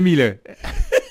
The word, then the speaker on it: Millet: On m'a souvent posé la question et je répondais, ça se prononce comme pour le peintre, puisque le peintre Jean-François Millet, on prononce bien Millet, effectivement.